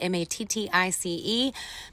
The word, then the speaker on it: Mattice: That's how you pronounce it. Mattice.